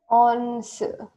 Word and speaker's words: once: So, try to pronounce it as two different syllables. Once. Okay. Now, put the stress on the second syllable. Once. I want to hear the second syllable loud.